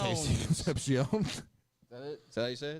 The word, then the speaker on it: Concepcion: That's not Casey Concepcion.